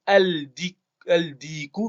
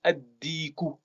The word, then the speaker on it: ad-diku: On va pas prononcer le lam, on va pas dire al-diku, mais ad-diku. C'est-à-dire qu'on double le dal et qu'on supprime la prononciation du lam. Ça va donner ad-diku.